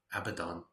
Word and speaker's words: Abaddon: Apollyon and Abaddon, or Abaddon, but I think it's pronounced Abaddon. Not a bit weird. Abaddon, and it is a bad one.